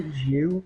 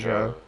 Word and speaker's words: Zhou: Zhou, Some people say Zhu, but I say Zhou.